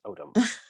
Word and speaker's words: Odom: There was a character on Star Trek called Odo, so that's Odom. Cool. Yeah, autumn would be the autumn in New York, like the season.